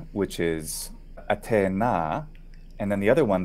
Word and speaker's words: Atena: modern Greek pronunciation but in Italian we say atena so it's there isn't aspiration because Italian and aspiration